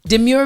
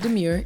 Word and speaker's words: demure: Demure Beauty, it's not demure, it's demure. My bad.